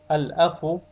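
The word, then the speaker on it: الأخ: Al-akhu, the lam is pronounced.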